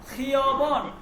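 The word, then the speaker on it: خیابان: এরপর হচ্ছে দেখেন খিয়বন। খিয়বন মানে হচ্ছে হাইওয়ে, রাস্তা, হাইওয়ে, মনে রাখবেন। খিয়বন মানে কি? হাইওয়ে। খিয়বন, খিয়বন উচ্চারণটা হবে এইরকম।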